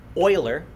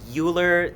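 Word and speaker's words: Euler: Oiler I know it's spelled but it's actually a famous mathematician named Leonard Oiler if you ever hear anybody say uler it means they know nothing about mathematics but this is an Oiler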